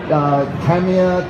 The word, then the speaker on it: Tamiya: 失礼しました。たまに僕は英語がちょっと喋れないですから、どうしても発音がちょっと変わってます。So, I've heard people say different versions like Tamiya, but it's all Japanese is quite flat. It's just ta, mi, ya.